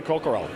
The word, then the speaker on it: Coquerel: I'm here with Coquerel, and I do pronounce that correct because I've known her for years, right?